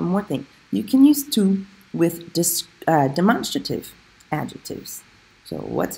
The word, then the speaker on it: tous: But remember, T-O-U-S as an adjective, you pronounce it tout.